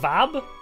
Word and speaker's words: fab: Oh, Fab is Welsh for son of? Is pronounced. Oh, like Vab?